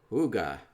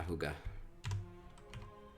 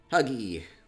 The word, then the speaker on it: hygge: Okay, don't pronounce the Y like your U. Okay. Google seemed to think it was Hugh. Hugh, but it's not. A little different.